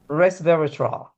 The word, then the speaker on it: resveratrol: put it in the chat that h yes sister Angela res re res verra no that's not how you pronounce it resveratrol thank you right that's that's the drink